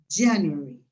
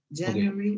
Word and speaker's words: January: En inglés habitualmente las palabras se acentúan en la primera sílaba, te voy a marcar el acento acá, en la primera sílaba de la izquierda. January, February, ¿ya? No van en la mitad, normalmente, ¿ya?